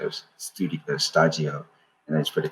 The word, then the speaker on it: Shtajio: the Japanese pronunciation was stagio, and I just put it together. So stagio, it's like it's like a Japanese word and studio mixed together.